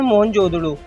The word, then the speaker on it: मोहनजोदड़ो: दोस्तों मोहनजोदड़ो शब्द का सही उच्चारण है मोहनजोदड़ो और सिंधी भाषा में इसका अर्थ है मुर्दों का टीला।